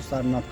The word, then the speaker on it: सारनाथ: जैसे सारंगनाथ में से अगर साइलेंट होता है तो सारनाथ कॉल्ड होता है, ऑफिशियल नेम जो प्लेस का।